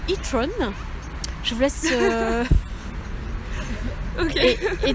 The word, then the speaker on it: e-tron: Et en fait, il se trouve que elle s'appelle, en anglais, ça se prononce e-tron.